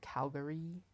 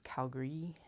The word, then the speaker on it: Calgary: elied the a a lot so it's not Calgary it's Calgary and apparently most people in Calgary also don't pronounce a John Lauer it's John Lori although